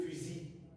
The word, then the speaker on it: fusil: l'usm vert mais quoique s'est terminée par elle se prononce pas on dira le fusil c'est le même tarif